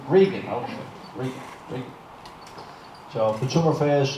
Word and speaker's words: Regan: Is it pronounced Reagan or Regan? I'm Regan. Regan, okay.